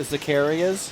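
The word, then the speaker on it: Zaccaria: And a lot of the games like the Zacarias, am I pronouncing it right?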